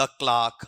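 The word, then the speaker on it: clerk: Number 23 में द क्लार्क हां ये सुन लेना। मैंने पहले भी बोला है सी एल ई आर के क्लर्क या क्लार्क ये आरपीएससी में फनेटिक पूछा हुआ है।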